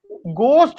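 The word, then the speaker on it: ghost: गोस्ट school जो है, एक तो ये है कि जब हम बोले ना इसको, तो एच जो है साइलेंट है इसमें, इसको बोलना चाहिए गोस्ट स्कूल्स।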